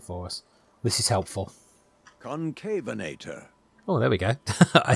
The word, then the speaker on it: Concavenator: actually look it's going to it's going to pronounce it for us this is helpful concavenator oh there we go I said it right thank God for that concavenator concavenator is that supposed to be John Hammond's